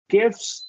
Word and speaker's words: gifts: these so we're gonna we can reduce that te gifts gifts lifts you almost don't even need to articulate the te yeah gifts and uh